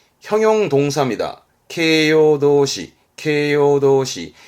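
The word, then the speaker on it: 形容動詞: 케요도시, 케요도시. 케요도시라는 건 보통 이제 일본어 공부하실 때 보게 되면 나 형용사라는 말을 하게 되는데 그 나 형용사, 그러니까 이 형용사는 케요시, 케요시.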